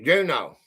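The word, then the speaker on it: Juneau: Juno. Okay.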